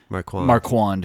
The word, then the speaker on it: Marquand: just sounds snotty yeah so Marquan Marquand yes it's like a wand yeah it's like a Marky Mark with a wand there's no apostrophe on